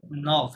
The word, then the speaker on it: nord: নর্থ, সুদ, নর্থ, হ্যাঁ, এটা ডি সাইলেন্ট, এটা সুদ, এখানে ডি